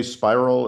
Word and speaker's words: Spyral: Uh I should say spiral is a perfectly good pronunciation. Uh uh Stefan Sinclair was franophhone so he tended to sort of pronounce as spidal and I I I was infected by that.